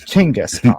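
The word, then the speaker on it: Chinggis Khan: And it's Chingiscon, actually. I don't know why we spell it the way we do. It's Chingiscon.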